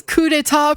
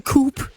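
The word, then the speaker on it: coup d'état: See, he pronounces coup deta properly in Japanese. He doesn't call it the coupe.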